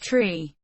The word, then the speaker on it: three: and thousand are used the pronunciation of the digits three four five and nine differs from standard english being pronounced tree four five and niner the digit 3 is specified as tree so that it is